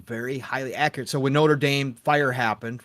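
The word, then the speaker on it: Notre-Dame: highly accurate so when Notre Dame fire happened right if you guys remember the Notre Dame notredam I should say I'll pronounce it correctly not the football team or the school uh but again notredam uh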